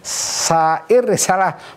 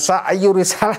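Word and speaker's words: سائر الرسالة: Walaupun nggak dibaca tuh ya seperti kalau dibacanya sa'ir risalah, bukan sa'yur risalah, bukan ya. Tetap sa'ir risalah di sini, ya.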